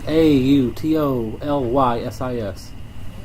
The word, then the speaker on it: autolysis: okay, I think it's like AUTOLYSIS.